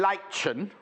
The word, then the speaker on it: lichen: There's an N on the end of it, Hannah. She said the end silent.